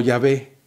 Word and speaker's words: Yahvé: viendo en este momento, que acabaría pronunciándose como Yahvé, aunque después una mala traducción alemana diera como resultado hace siglos la pronunciación de Jehová.